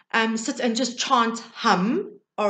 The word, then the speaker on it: ham: chakra is hum now it's spelt ham h-a-m but the pronunciation is hum so if you are